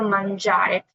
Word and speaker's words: mangiare: Se lee tal cual lo que es la N, como la palabra mangiare, que sería un verbo, que es comer. ¿Ok? Y prácticamente en sonido, yo siempre les digo que lo asocien de esta forma. Mangiare. ¿Por qué zare? Porque nosotros relacionamos lo que es la G al español más con este tipo de combinación.